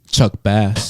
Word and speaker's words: Chuck Bass: name, it is pronounced. Chuck Bass.